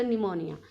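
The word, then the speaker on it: pneumonia: It's started with the पी, बट P will remain silent before N. Okay, तो एन से पहले निमोनिया में आप इसे पी निमोनिया नहीं बोलेंगे, you will say इट्स निमोनिया.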